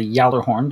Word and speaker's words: Gjallarhorn: then um let's see the Gjallarhorn or the Yeller horn depending on how you actually pronounce it I'm setting a jailor horn or the good that's